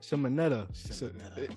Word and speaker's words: Shimoneta: Shimoneta. It's the name's so weird, but hey, I keep like telling myself it rhymes with Bayonetta, and then it's like she doesn't make it better.